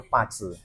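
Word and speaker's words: 八字: Nah, kita akan berbicara masalah Feng Shui dan Pace ya, atau Base atau Pace? Secara pelafalan secara internasional itu kita sebutnya Pace. Pace, oke. Pa itu adalah 8, Ce itu artinya karakter.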